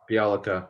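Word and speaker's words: Bjelica: getting beyond was it the guy from sacramento bielika is that how you pronounce it yeah bialika right dude and it didn't part ways with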